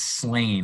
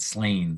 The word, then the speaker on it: Slain: And it's Slane. I know it's a dumb question, but Slane, the last name, right?